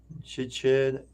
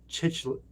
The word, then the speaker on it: cichlid: with other fish, A discus tank, an African chichil. Wait, how do you pronounce that? African chichlid.